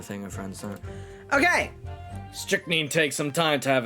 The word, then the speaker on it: strychnine: Pronunciation. Strychnine. Strychnine.